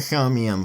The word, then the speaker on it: Somnium: thank you samian files nearby initiative blue or I can show me on files which is actually how it's pronounced oh it's Brahman